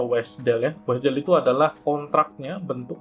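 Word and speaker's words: WSDL: adalah bentuk messagenya kemudian ada wes dele jadi bacanya wes dele ponsel itu adalah kontraknya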